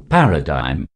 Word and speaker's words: paradigm: of the letter g we do not have to stress on the letter g in this word feel there is no